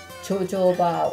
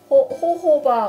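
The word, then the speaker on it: jojoba: 조조바 오일. 이게 스페인 사람 스페인어로는 이게 호호바 오일이라고 읽더라고요. 영어로는 조조바라고 읽는데 호호바 오일. 이게 두 가지가 다 똑같은 오일을 지칭하고 있는 거기 때문에 여러분이 혼돈하시지 않았으면 좋겠어요.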